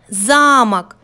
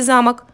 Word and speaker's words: замок: месте выделяя первый слог замок а теперь давайте выделим другой слог слове замок слог замок получилось слово замок получилось совсем другое слово вот видите как важно